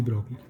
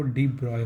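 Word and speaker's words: de Broglie: Einstein के experiment के बाद एक और साइंटिस्ट थे जिनका नाम था डी ब्रॉगली। ब्रॉगली इंडियन बोलते हैं, बट इनका जो रियल प्रोनाउंसिएशन होता है वो डी ब्रॉय होता है।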